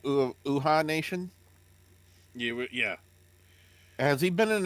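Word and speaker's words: Uhaa Nation: Uha Nation, Yeah.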